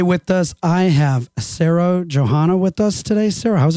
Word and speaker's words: Johana: say your name correctly is it Johanna or is it pronounced differently uh yeah it's Sarah Johanna okay excellent well Sarah